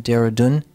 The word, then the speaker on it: Dehradun: for Science, Technology, and Natural Resource Policy in Dehradun, India. Did I pronounce that correctly?